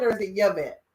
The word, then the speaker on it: Yvette: Is it Yvette or is it Yvette? Yvette? Me too. So let me give you an air high five because that's the real way to say it. We Well, pronounce the Y.